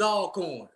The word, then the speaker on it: Alcorn: did i say it right alcorn all corn oh always all corn they like that it ain't like your name